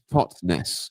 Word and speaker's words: Totnes: So it's pronounced Totnes.